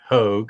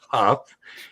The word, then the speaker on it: Hough: You got Jordan, everybody pronounces it Hough, and it's Hough.